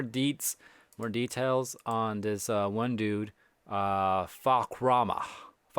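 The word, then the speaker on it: Fahkumram: But we finally got just more details on this one dude, Fakrama, right? How do you say it? Oh, Fakram.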